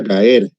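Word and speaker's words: גער: en la concordancia Strong, se pronuncia gaer, la palabra reprender, gaer.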